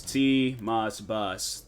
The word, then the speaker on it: TMossBoss: I'm gonna have to like constantly tell people it's TMossBoss. That's why I eat. I know, right? I'm like, it's not how you pronounce it. It's pronounced the complete TMossBoss. That's why it's capitalized.